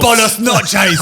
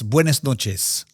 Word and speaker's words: Buenas noches: bonos noches. It's the least Spanish sounding. Is he thing the I- English bloke? Me, spreche lingo. Yeah, you say it properly because you're very Buenas noches.